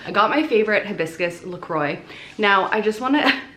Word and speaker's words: LaCroix: That said, the brand actually calls themselves LaCroix. So I'm calling it LaCroix because it's the brand name. But just know that I do know that it's a French word. And that's not how you say it.